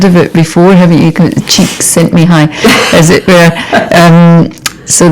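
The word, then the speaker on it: Csikszentmihalyi: um you've heard of it before haven't you cheeks sent me high as it were um so the the man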